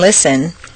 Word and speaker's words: listen: not so at all just as you don't say the T in listen the Double T in